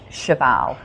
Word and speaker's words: Chaval: My real name is Shabal. Shabal. So, and not a lot of people can pronounce Shioval cuz it's it's just different.